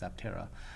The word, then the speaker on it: Aptera: It's Aptera, because it means like no wing, and it's essentially an EV three-wheeled motorcycle, and it's shaped like an airplane wing.